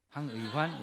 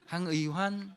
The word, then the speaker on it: 황의환: 황의환 이렇게 발음해야 돼. 액센트를 황의환 이렇게. 황의환.